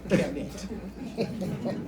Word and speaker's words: Kemet: KMT and we add a little E so that English people can pronounce it, Kemet.